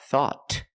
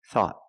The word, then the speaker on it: thought: we found thought thought at the end the tongue goes up and makes a stop te not thought but thought thought thought I thought you were